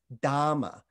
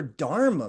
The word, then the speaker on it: dharma: language this word dharma that's the uh sanskrit pronunciation of this word it's got an a harder r it's dharma versus this pali pronunciation which is dama it's kind of got a slight lift lisp to it most poly words sound a little bit like sanskrit words but they have a slight lisp to them the point